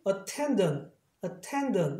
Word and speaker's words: attendant: 자음 두 개지만 같은 자음은 발음 하나니까. 그래서 발음이 attendant 이렇게 되는 거예요.